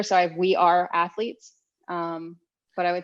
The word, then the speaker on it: Athleats: My biggest platform, I guess, is like Instagram, and it's Athletes Nutrition, and it's spelled ATHLEATS, like eats.